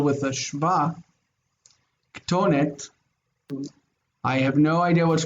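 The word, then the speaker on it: כתונת: it would be pronounced kethonet or kesonet. And in both situations, it just sounds bad. So instead of saying kesonet or kethonet, they preferred to say ketonet, so they had to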